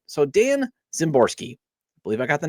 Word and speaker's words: Szymborski: All right, so Dan Szymborski. I believe I got the name right. I believe I got the pronunciation right.